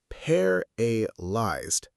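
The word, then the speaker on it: paralysed: Say it slowly with us. Paralyzed. Paralyzed. The stress is on the first part.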